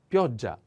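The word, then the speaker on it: pioggia: in another world okay the next is pioja pio the accent on o and pay attention to this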